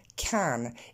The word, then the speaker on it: can: isolément, évidemment, je dis can. Et si je veux l'accentuer, je le dirai en forme pleine avec son vrai A de can. Mais ici, dans la phrase, il est auxiliaire. Il sert simplement à faire fonctionner swim. C'est pour ça qu'il n'est pas accentué.